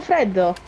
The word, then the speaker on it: freddo: Espresso freddo. Oh, okay. It's Italian. All right. She says it in Italian like I was thinking it reminded me of is it Frido?